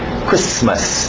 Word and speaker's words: Christmas: Alright, do outro lado, Christmas, o T é mudo, Christmas, não tem medo dos S's, Christmas.